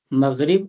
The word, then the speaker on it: مغرب: حرف ہے وہ ساکن ہے۔ فجر، ظہر، عصر، مغرب، عشاء، یہی ان کا تلفظ، صحیح تلفظ یہی ہے۔ ان کے علاوہ